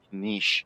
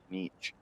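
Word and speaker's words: Kinich: that means and apparently I've been saying his name wrong the entire time it's like Kish and not kich the sounds of it but that means he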